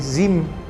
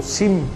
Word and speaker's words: Zim: esta de esta naviera zm zim o SIM como la pronunciamos nosotros en español este es preocupante debido